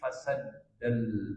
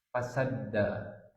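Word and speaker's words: فسدّ: Fasadda dalnya harus pakai tasdid ya bacanya. Karena kalau enggak artinya beda. Kalau fasada artinya rusak, kalau fasadda artinya menutup.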